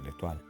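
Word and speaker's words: L'Étoile: Eh, en francés se pronuncia letual.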